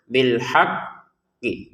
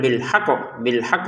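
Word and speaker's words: بِالْحَقِّ: penuhi pertama bilhaqqi jadi pertama adalah ditekan baru dipantulkan bilhaq ditekan dulu haq gitu itu kemudian dipantulkan q gitu bilhaq qo bilhaq gitu jadi ditekan dulu jangan sekedar bilhaq bilhaq jangan ya karena ini ada tasydidnya jadi ditekan dan dipantulkan bilhaqqu seperti itu.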